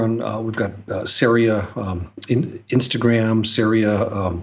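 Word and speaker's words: Ceria: you're you're absolutely right syria with a c c-e-r-i-a and uh pronounced uh it rhymes with aria syria brewing company and just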